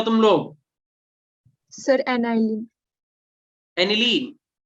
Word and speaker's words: aniline: एनिलीन, एनाइलिन नहीं बोलते उसे, ठीक है, मतलब प्रोनाउंसिएशन है, तुम शायद जो सही लगे बोलो, बेटा एनिलीन बोलते हैं इन जनरल, जैसे ठीक है।